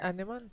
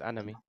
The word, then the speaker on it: anemone: Is it Anemon? See Anemon? A lemon. Anemon. Oh, lemon. Anemon. Cotty lemon. See Anemon? No, it's anemone.